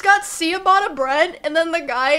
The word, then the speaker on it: ciabatta: It's got ciabatta bread, and then the guy, he'll, like, toast